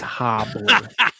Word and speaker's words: Hibbler: And you mispronounced it. It's Hobbler.